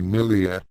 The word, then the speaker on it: Miriya: In this story, Miriya's pronunciation of her name in the Zentradi language will be Milia.